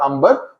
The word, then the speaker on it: Amber: Amber is a way, I think इसको pronounce करेंगे, amber will be too anglicized, बड़ी अंग्रेज वाली हो जाएगी, तो अंबर बोलेंगे.